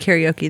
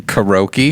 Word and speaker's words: karaoke: saying it correctly because it's supposedly in japanese it's pronounced like like karate so so uh i